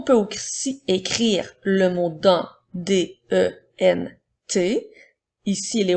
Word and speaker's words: dans: le mot d'un s'écrit Dan qui font le son 1 et la lettre S est une lettre muette alors nous avons dans comme dans les phrases